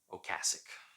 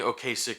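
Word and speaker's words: Ocasek: songwriting um I know I know I'm not pronouncing that correctly ocasic that's actually how you're supposed to pronounce it but I I've been saying okay sick for too many years and so I'm just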